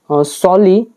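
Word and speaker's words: solely: वी आर सॉली the peoples team, हम मात्र लोगों की टीम है। सॉली का मतलब क्या होता है? ये इसका प्रोनाउंसिएशन क्या है? सॉ और ली, SOU, सो, देन LEE, ली, सॉली, इसका मतलब हो जाता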